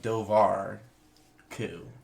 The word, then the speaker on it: Dobhar-Chú: turn into a debate from what I read it's the doar coup kind of and it's the way they pronounce it there it's like dovar cou dovar cou yeah so we're rolling